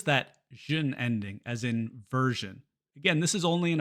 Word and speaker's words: version: After an R, like in version.